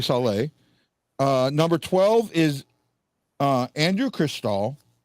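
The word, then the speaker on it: Šalé: Number 11, and I'm probably going to pronounce his last name now, is Edward Saleh, I guess, because he's Czech. I know it's not Sale, so probably Saleh.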